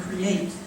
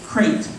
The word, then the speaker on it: create: which means to make, has had its two syllables consolidated in the mouths of business people, admin, on-air commentators, and former Republican presidential candidates Mitt Romney and Newt Gingrich into crate.